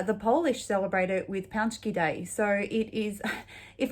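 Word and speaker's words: pączki: i would have said patsky day um apparently it's also pronounced panchky day which is apparently incorrect so um i did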